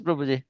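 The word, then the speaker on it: Prabhu: Pronounce. Prau. Harrishna. Krishna. Prahu. Am I right? Yes. Prahu.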